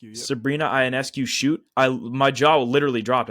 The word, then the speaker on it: Ionescu: I think when I was watching Sabrina Ionescu, that's how you pronounce her last name, Ionescu. Yep. Sabrina Ionescu shoot, my jaw literally dropped.